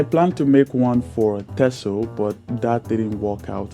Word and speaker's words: Texel: history and cultural Traditions it's spelled t x but it's pronounced tesso in Dutch this Island spans approximately